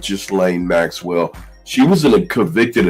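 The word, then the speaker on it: Ghislaine: to talk about his partner uh Jain Maxwell because I think that or just Lane or I believe it's just Lane. I'm going to go with just Lane Maxwell.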